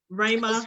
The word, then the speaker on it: Ramah: I mispronounced it. I thought about it. It's the Ramah.